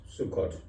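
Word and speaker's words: Succoth: the king of midian i think it's pronounced sukkot but the officials in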